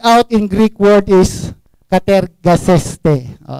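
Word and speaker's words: κατεργάζεσθε: Work out in Greek word is katergaseste. Pronounce it clear.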